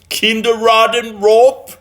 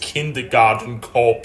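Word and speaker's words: Kindergarten Cop: you got me my favorite arnold schwarzenegger movie kinder rotten rope oh thank you honey you are the best it's actually pronounced kindergarten corp starring arnold schwarzenegger but whatever she doesn't have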